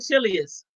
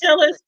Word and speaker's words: Chillis: But I said it wrong. I said Chilius. Yeah, it It's was Chillis.